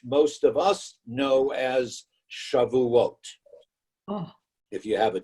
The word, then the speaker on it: Shavuot: this holiday, which most of us know as Shavuot. Oh. If you have a different pronunciation, it's Shavuos. But Shavuot, because the word Shavuot is actually a play on words.